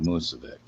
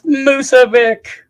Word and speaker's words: Musovic: It's not Musovic. It's Musovic.